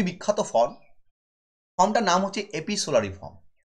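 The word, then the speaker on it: epistolary: এটা যে ফর্মে লেখা হয়েছে খুবই বিখ্যাত ফর্ম, ফর্মটার নাম হচ্ছে এপিসোলারি ফর্ম। কি নাম? এপিসোলারি। এই এপিসোলারিকে অনেকে এপিস্টোলারিও উচ্চারণ করে। ঠিক আছে, এপিস্টোলারি উচ্চারণ করলেও ভুল নয় কিছু, আমাদের ইন্ডিয়ান প্রোনাউন্সিয়েশন ওটা।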